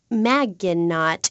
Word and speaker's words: Maginot: Maginot, welcome to the show. Thanks, Amy. However, you have mispronounced my name. which rhymes with badge. As in duh, and no as in more than you.